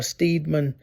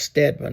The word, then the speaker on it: Steedman: a a uh General It's looks like uh Steedman, but it's pronounced Stedman.